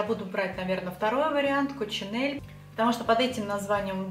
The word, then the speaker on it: Coccinelle: божьей коровки множественном числе поэтому если вы зайдете в интернет и ради интереса прочитаете про этот бренд будут писать что правильно произносить его коп синель они конченные хотя как